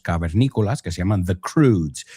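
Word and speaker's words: Croods: De hecho, a mi hija le encanta unos dibujos animados de unos cavernícolas que se llaman The Crudes. Se escribe C-R-O-O-D-S, pero viene de la palabra crude, right?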